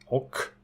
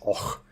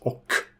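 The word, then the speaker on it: och: the rock character water or to translate dragons oak is pronounced oak many people think is oh but it's oak Oak the mourner demons dragons and demons and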